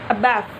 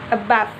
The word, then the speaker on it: above: as the first level we say that the second syllable is stressed and in other words the phonetic stress is on the second level we can pronounce the word above like this a bath a bath did you